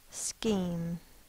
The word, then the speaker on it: scheme: word scheme e m the first sound is s the next sound is C because it's Greek in origin C can be spelled with a CH H in the same box because it's representing one sound C the next sound is e m to make the E it's long sound we do the silent